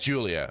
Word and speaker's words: Julia: Okay, so it is pronounced Julia. I wasn't sure. Like, with the G, it can kind of go either way.